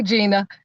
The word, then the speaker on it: Gina: it's a gina that's why i just say gina okay being exotic and stuff in there okay i think they were too i think they were too i just say gina because it's hard your mom and dad they